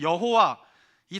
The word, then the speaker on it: 여호와: 우리는 여호와이 단어를 보면 여호와 이렇게 발음하고요. 어떤 사람들은이 내 스펠링으로 된 단어를 야회 이렇게 발음합니다.